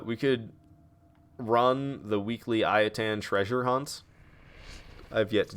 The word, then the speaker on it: Ayatan: pronounce the I heard pronounce it as iatan and ever since then I've been like yes I can actually say I attend and feel like I'm pronouncing it properly because in the past I said ayatan which is just incorrect all right retrieve the